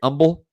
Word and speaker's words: Humble: umble Texas right Pete it's umb not humble right umble yes I believe